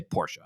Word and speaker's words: Porsche: I've learned that I need to say Porsche.